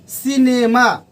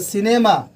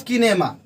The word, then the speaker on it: cinema: जो पहला ये पॉइंट मैंने लिखा हूं, C के बाद जब IEY आए तो उसका उच्चारण हम स्व की तरह करेंगे। जैसे सिनेमा, CINEMA सिनेमा, नॉट किनेमा।